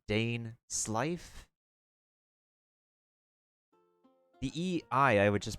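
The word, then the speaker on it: Dainsleif: Dain Sleef, Dain Slife. I'd probably pronounce like Dain Slife.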